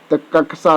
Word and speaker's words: कक्षा: option सही है कक्षा शब्द का शुद्ध उच्चारण है कक्षा दोस्तों कक्षा आदत सी ऑप्शन